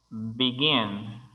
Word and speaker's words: begin: Como por ejemplo, begin, begin, comenzar o empezar. Begin tiene dos sílabas y la última es la que tiene el énfasis de sonido.